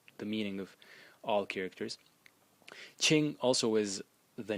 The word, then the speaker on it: 清: So as for the series, the first character in the series is pronounced Qing. In the first tone, and it means clear.